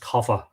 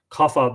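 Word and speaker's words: Cathbad: me that's a cover i think it's pronounced kapha kapha the druid c-a-t-h-b-a-d of the gentle face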